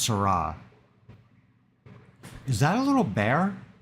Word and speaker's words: Seurat: It's spelled Seurat, but it's pronounced Seurat.